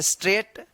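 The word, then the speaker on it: straight: एस टी आर ए आई जी एस टी जी ये silent रहेगा। स्ट्रेट some where busy.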